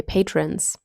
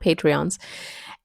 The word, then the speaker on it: patrons: My patrons, that's how you say it, not Patreons.